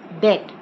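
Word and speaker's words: debt: some new words today d-e-b-t that it's not depth B is silent so it is pronounced as that received wrong it is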